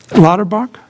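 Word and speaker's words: Lauterbach: the firm for design i can't pronounce their name lotterbach is how you say that okay and associates architect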